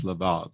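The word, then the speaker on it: לבב: I think it might even pronounce labab, like with V sounds, but it's the heart.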